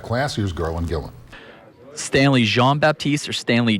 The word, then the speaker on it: Jean-Baptiste: Stanley Jean-Baptiste or Stanley Jean-Baptiste? Well, I pronounce it Jean, but mostly everybody pronounces it John.